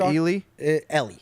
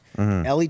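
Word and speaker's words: Eeli: oven i am but is it ellie ellie ellie's how they pronounce it during the broadcast and uh yeah no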